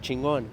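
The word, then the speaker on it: Chingón: then she's like what how do you pronounce it and I'm like chingon she's like chingon nice and I'm like yeah it's Unique straight from Mexico hello my name is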